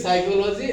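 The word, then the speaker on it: psychology: mean मनोविज्ञान साइको साइकोलॉजी the real pronounce will be साइकोलॉजी एंड पी is silent here so practice साइकोलॉजी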